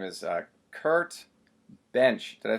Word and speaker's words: Bensch: His name is Kurt Bensch. Did I pronounce that right? Yeah, just like Johnny Bench, just I have an S and he doesn't.